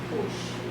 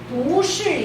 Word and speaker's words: 不是: 你不是 Okay, 你不是张老师 Okay, now 不是 is second tone, not fourth tone, because children love to say 不是 when they're 2.